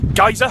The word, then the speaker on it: geyser: waiting for the striker Giza to explode I say Giza that's a British pronunciation the American one is geyser and the Icelandic pronunciation